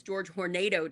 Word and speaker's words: Hornedo: And I think George Horno to spell it, but it's George Hornado to say it. So just remember the E, the A is the E and then you got